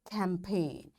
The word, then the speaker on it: campaign: G is silent when it comes before N. Its examples are design. Now, after G, N is there, so we don't pronounce this G. This is silent. Foreign, sign, align, resign, assign, rain, clone, and campaign. In all these words, because after G we find N is there, that's why we don't pronounce this G and we directly switch to N and we say design.